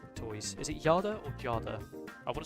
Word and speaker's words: Jada: It's pronounced Jada.